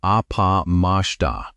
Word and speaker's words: appamāda: The Pali word is appamada. Say it like apamashta, and it means the opposite.